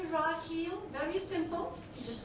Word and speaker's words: Raheel: the eye and say, do I look like a Rachel to you? And so, they'll back off and I'll say Raheel, very simple.